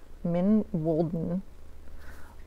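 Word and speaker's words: Mijn Wolden: if I remember correctly the way you pronounce her YouTube name is min Walen and anyway I will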